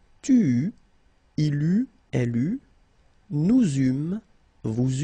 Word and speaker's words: il eut: Okay, so j'eus, final S not pronounced, tu eus, final S not pronounced, il eut, final T not pronounced, elle eut.